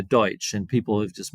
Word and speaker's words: Deutsch: they call it but it's not really Dutch it's Pennsylvania Deutsch and people have just mispronounced deuts it's Deutch uh so Pennsylvania they